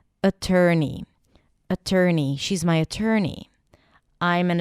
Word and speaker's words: attorney: So we start with a schwa sound, then ter, as in turkey, and then ni, attorney.